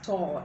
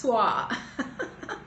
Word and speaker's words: tour: uh now i know a lot of people pronounce this word as tor it's not tor it's tua so of course when